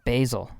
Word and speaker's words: Basel: It's pronounced Basel, you know?